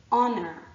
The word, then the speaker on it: honor: with an H but the H is silent and so what we're actually hearing at the start of these words is a vowel sound so we say honor we say our we